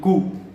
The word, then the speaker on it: coup: तो उसने कू किया, कू, COUP, कू, P साइलेंट है, ठीक है। ये फ्रेंच वर्ड है, कू पूरा वर्ड है कू डेटा, ठीक है।